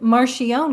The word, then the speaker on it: Marchione: It's Italian, and I say it Marchione because that's how I grew up because they wanted to acclimate us acclimate the family to the American way of life.